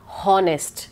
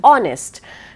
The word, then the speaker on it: honest: I'm not pronounced so an honest man never a honest man because it's not honest it's honest right so we use the